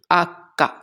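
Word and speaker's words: acca: the next word is H and its exact pronunciation is akka next letter is I and in Italian it's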